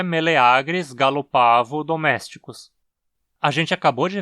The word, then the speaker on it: gallopavo: com galinhas e Pavões e o a na sílaba é longo O que justifica a pronúncia como uma paroxítona gallopavo assim meleagris gallopavo domésticos